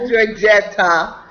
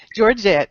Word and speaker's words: Georgette: Georgette, not Georgetta. I thought it was Georgetta. I beg your pardon. That's okay. I've been called everything from George to Georgetta, so I answer No, to I want to everything. pronounce it correctly. Is it Georgette? Georgette, that's it.